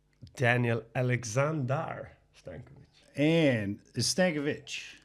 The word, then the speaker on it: Stankovic: And is Stankovic. Stankovic.